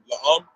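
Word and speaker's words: לאם: that word manner, how you say that is how you say la'am.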